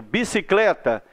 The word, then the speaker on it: bicicleta: Por exemplo, bicicleta ou bicicleta. O clé é a sílaba mais forte.